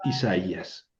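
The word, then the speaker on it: Ἠσαΐας: A i sí debería formar diptongo, pero le puse diéresis para indicar que no. Entonces, si ahí lleva el acento, ahí lo pronuncio. Esa esau es Isaías. Cuando la vocal suave precede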